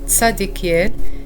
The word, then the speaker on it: Zadkiel: communiquer avec lui l'archange tadekiel est l'un des SEP Archanges les plus puissants du royaume céleste son nom se prononce en hébreu tsadekiel et signifie vérité de